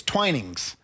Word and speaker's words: Twinings: is what it's and it's not twinning that's why I had to get the pronunciation it's twinings it's a uh the